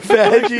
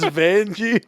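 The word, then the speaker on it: Vanjie: went I don't know it's not vagi it's Vani whatever vegie sounds really aggressive that's how I that's how it's spelled it's Vani not vegie you got to at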